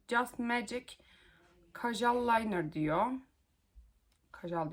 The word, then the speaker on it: Kajal: Magic Kajal liner diyor Kajal diye okunuyordu diye düşünüyorum şöyle göstereyim size Bu da